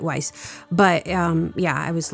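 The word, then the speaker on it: Weisz: I pronounced it correctly. Vice. No, it's Weiss. Nope. Looked it up. Vice. Okay. Okay. She's German, but she pronounces or I think everybody pronounces And everybody pronounces it wise, but um yeah, I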